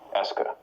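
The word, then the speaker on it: est-ce que: it as being a single word that marks questions that's pronounced Esa we'll use that question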